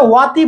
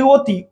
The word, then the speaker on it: অতি: আমরা কিন্তু এটা ওয়াতি বলি না, আমরা বলি অতি।